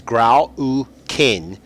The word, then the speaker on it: Grau U'Kihn: and the way it's uh the way it's pronounced anounced is grow kin and they have what they call uh Predator